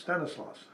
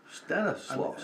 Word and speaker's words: Stanislaus: My name is Stanley, and in Polish it's kind of pronounced Stanislaus. Stanislaus.